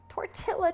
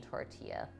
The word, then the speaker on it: tortilla: a bread dough oh i know the l is silent in tortilla i'm just bad sometimes